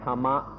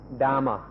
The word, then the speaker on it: dhamma: which is dharma but here we use the word in thai tama or in a western pronunciation dhamma there are four very important meanings of the word dhamma the first is nature